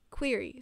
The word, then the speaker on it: query: Query.